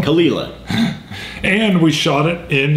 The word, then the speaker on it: Caol Ila: we're going back to the Kila properly pronounced by the way that I would wear the funkiest hat in the house ESP POS right that is pronounced properly Kila we've heard it several ways but I'm pretty sure that's the right way and when we first did our first episode we were pronouncing it KO that has be wrong khila and we shot it